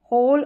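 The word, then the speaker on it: whole: है WH, यहाँ पर WH कुछ में रहता है, तो हु पढ़ा, यहाँ पर W साइलेंट है। होल और हुज, क्या है, हुज। तो यहाँ पर डब्लू साइलेंट है इन सारी स्पेलिंग्स में।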